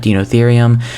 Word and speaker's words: Deinotherium: the dinotherium enclosure uh yeah that's how you pronounce that dinotherium and uh also before we go and get